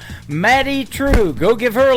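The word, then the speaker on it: Madye: That is a brand new single from Maddie True. It is M A D Y E on her first name and True is spelled T R E W. Matty True.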